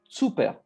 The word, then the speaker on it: Cuper: And when he came in France, after the First World War, his name, the French pronounce like in French, but normally it's Cuper.